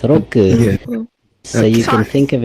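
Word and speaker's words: ろ: It's like ro, ro. Ro, ro. Yeah, ro. Like how you row a boat. It's basically like that.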